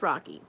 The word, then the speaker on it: Rokki: Either way you spell it, it's pronounced Rocky.